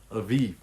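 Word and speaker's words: אביב: But it's pronounced Aviv. Their B's are pronounced like a V.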